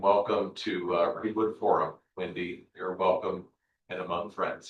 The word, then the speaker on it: Windy: Sometimes people in the northeast ask me if I mean Wendy when I say my name is Wendy and I say no I I am pronouncing my own name correctly friend.